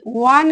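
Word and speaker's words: one: ওয়া উচ্চারণ হচ্ছে ওয়া, এই ওয়া অবশ্যই কনসোনেন্ট সাউন্ডের মধ্যে পড়ছে, এখানে কনসোনেন্ট সাউন্ডের মধ্যে ওয়া পড়ছে, তাই ওয়া হলো এ ওয়ান রুপি নোট, এ ওয়ান।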